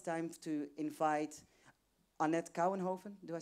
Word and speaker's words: Kouwenhoven: And now it's time to invite Annette Kouwenhoven.